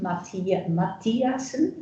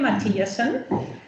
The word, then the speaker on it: Mathiasen: But now I would like to introduce Kim Mathiasen. Do I say it right? Yeah. Kim Mathiasen.